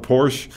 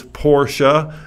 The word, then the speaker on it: Porsche: c h e and the e is not silent you pronounce the e that's what makes like